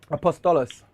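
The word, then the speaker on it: Apóstoles: the apostles is that is that how it's pronounced apostolos was that right yep and then we have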